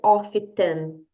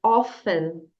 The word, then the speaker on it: often: a letra T aqui você não vai dizer often você vai dizer often Essa é a pronúncia correta Então é só você repetir aqui